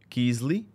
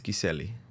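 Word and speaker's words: Kysely: pronounced and also kiseli and I think people call it kiesley but let's be honest it's kiseli yes we're not gonna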